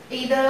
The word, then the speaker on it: either: ईदर और नीदर से related, लोग इसको आइदर नाइदर बोलते हैं, ईदर और नीदर भी बोलते हैं. प्रोनाउंसिएशन का फर्क होता है अकॉर्डिंग टू द लोकेशन. तो चाहे आप ईदर बोलो चाहे आइदर बोलो, बोथ आर करेक्ट.